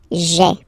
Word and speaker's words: j'ai: doesn't sound that beautiful, so we tend to take this e away, okay, so that you get this sound j'ai, okay, so j apostrophe a i. Remember, when you combine this a i, you get the e sound, okay.